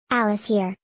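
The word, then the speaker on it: Alaşehir: Alice here Turkish pronunciation in Antiquity in the Middle Ages known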